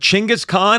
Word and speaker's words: Chingis Khan: And I also want to say that we confirmed because we were a little nervous, but Chingis Khan, I am saying it correctly and Chingis Khan is historically accurate and we are not making any kind of jokes.